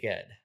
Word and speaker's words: Ged: I pronounce it just the same way I pronounce GIF. So I say Ged.